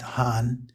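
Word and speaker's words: 厂: the component which is most people call it chang but actually that's a simplification it was originally pronounced han and meant a cliff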